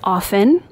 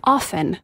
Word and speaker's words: often: with you Denise uh apparently I said often uh it is often and thank you for pointing this out I'm going to go on the record and say silent tea is really dumb um I don't know I guess I'm going to start saying like ballet uh Liston like let's just let's just really go for it on the tea but again for the record it is often not often you know we all flub